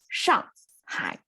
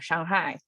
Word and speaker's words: Shanghai: So Shanghai is how it's pronounced, Shanghai. Okay, so even if in English speaking world, it's Shanghai, right? Shanghai. People try to give a little bit of sense of tonal change or Shanghai, Shanghai, or Shanghai, right?